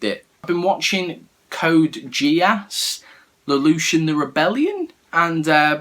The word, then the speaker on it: Geass: And anyway, this alien girl gives this Lelouch schoolboy like this power called Geass, or Geass. The Americans pronounce it Geass, so just I call it Geass.